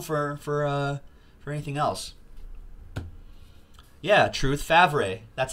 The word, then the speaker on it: Favre: John Elway, Dan Marino, Brett Favre.